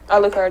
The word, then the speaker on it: Alucard: Alucard, yeah.